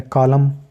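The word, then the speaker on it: column: line होती है तो यहां पर भी एन साइलेंट है तीसरा प्रिंसिपल है अगर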